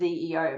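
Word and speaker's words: xEO: And I know it says XE Omega, but it's pronounced ZEO Omega.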